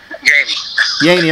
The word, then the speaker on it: Yeaney: be speaking with the pulse lead singer sean yanay am i pronouncing the name right sean yanny okay and um so how you doing today